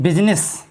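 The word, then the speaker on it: business: होता है संसद को को तीन शब्दों में आईएस साइलेंट है जैसे बिजनेस बिजनेस मिल सकता है व्यापार यहां पर आई का साउंड नहीं बोला जा रहा है पार्लिमेंट मे होता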